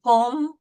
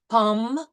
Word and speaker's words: pomme: So the E is generally silent unless it has an accent. So in these words, pomme, table, parle, we see there is